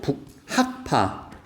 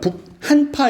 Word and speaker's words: 북학파: 북 그러니까 이제 이거 발음 잘해야 돼. 일단 실학자 그리고 북학파. 그니까 북한파 이러면 안 돼요.